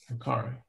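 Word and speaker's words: Makkari: Was it Makari? How do you say it, Cal, that one? Makari.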